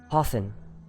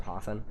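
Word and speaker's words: Hathowyn: spell that uh h-a-t-h-o-w-y-n i actually don't know how it's pronounced but i just said hoffen i think it's probably easy oh w-y-n out yeah of course they did thanks book unfortunate wow maybe like win yeah yeah hoth win yeah we'll say hoffwin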